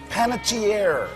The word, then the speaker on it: Panettiere: Panachier. It's It's tough. You know, they they actually pronounce it better in Italy.